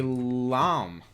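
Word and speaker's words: lamé: The correct answer is a lamb. Spelled lame, but pronounced L-A-H-M.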